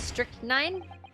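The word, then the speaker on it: strychnine: have to kiss pipes that is pronounced strick nine or strick strick nine this is no some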